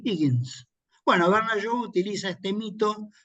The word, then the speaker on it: Higgins: transformada por el profesor Henry Higens, perdón por la pronunciación, diría Henry Higgins.